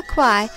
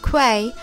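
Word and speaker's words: Kwai: locals the river Quai which is actually pronounced Quay by the Thai people can be visited in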